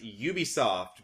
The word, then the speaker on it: Ubisoft: point it out again it is pronounced Ubisoft because Ubisoft is short for a ubiquitous software so just letting you